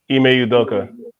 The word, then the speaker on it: Ime Udoka: How you pronounce it? Ime Udoka.